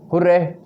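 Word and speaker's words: hurray: हुर्रे, our side has वन। हुर्रे को हुर्रा word भी pronunciation किया जाता है।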